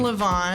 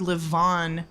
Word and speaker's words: LeVaughn: am here with co-owner, yeah, Justin LeVaughn.